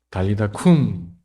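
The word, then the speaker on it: talitha kum: 뭐라 그러시죠 달리다 금이라고 한국 성경에는 달리다 군이라고 돼 있는데 그 꿈이 더 정확한 발음은 꿈이었던 거예요 달리다 쿵 소녀야 일어나라 죽은 사람이었어요데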